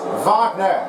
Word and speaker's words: Wagner: And for those of you who don't know how to say it, it's Wagner. It's a German part of a word, and then you got to make sure you have this one correctly.